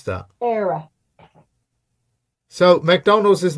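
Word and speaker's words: Éire: Era. How do you pronounce that? Era.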